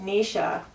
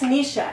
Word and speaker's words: Anisha: foundation and I watched Nisha you know puff and fluff oh my god it always I always get her name wrong oh my god well it's Anisha anyway and she just did